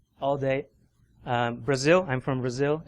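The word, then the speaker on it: Brasil: day Brazil I'm from Brazil and how it sounds like a Z but it's spelled with an S so orthography infomatics InfoSec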